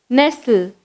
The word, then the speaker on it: nestle: நெக்ஸ்ட் நெஸ்டில், என்இஎஸ்டிஎல்இ நெஸ்டில். நம்ம எப்படி pronounce பண்ணணும், என்இஎஸ்டிஎல்இ நெஸ்டில்.